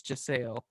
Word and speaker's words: Jasale: Someone corrected me on the big long name I mispronounced. It equals Jasale.